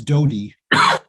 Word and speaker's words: Doughty: race between Jeff Deal and how do you pronounce his name? Doughty, I think it's Doughty.